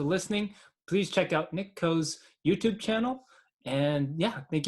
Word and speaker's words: Kho: I check out my youtube channel it's Nick Coe my last name is spelled ka Jo and I have a two